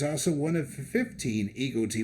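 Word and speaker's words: EGOT: one of the 15 ego tea winners or e-god as it's pronounced by the New Yorkers Adam gopnick at the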